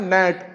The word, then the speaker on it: gnat: अगला क्वेश्चन है, विच letter is silent in the word GNAT? तो दोस्तों, इसमें जो साइलेंट वर्ड होगा वो होगा जी। इसका प्रोनाउंसिएशन होता है नेट, और दोस्तों नेट का